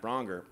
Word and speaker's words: Braunger: on my first podcast ding donger with matt bronger and was a great title i miss it sometimes but i invented it so people knew how to say my name if i'm honest were